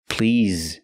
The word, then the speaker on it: please: remember please not please please use the vibration sound Z with the word please again I'd like a